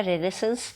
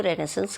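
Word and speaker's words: Renaissance: तो सबसे पहले है रिनेसेंस था क्या रिनेसेंस सबसे पहले 1500 से लेकर 1600 60 तक के पीरियड को रिनेसेंस कहा गया है इसको आप रिनेसेंस प्रोनाउंस करेंगे इट्स नॉट रेनेसा रिनेसेंस है ये और इसकी एक स्पेलिंग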